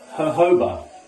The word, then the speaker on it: jojoba: Now it says jojoba, but it's actually pronounced jojoba oil.